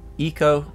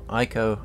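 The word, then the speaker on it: Ico: to the works of project eco eco or aiko as you might want to pronounce it as well as its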